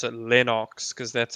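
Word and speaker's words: Lennox: has told them not to pronounce his name linux and to pronounce it lenox because that's how it's really pronounced that's nice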